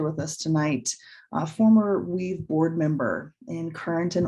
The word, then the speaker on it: WVE: begin the conversation of weaves work at the intersections of environmental health beginning with why are we calling this event weavings many of you have actually heard our acronym wve pronounced weave and while using this